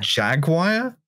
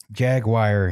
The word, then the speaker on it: Jaguar: Look, I accept that Jaguar might be a fucked pronunciation of, like, the animal, right?